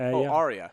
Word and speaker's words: Arya: of Thrones one you said which is this Arya Arya that's the one yeah Game of Thrones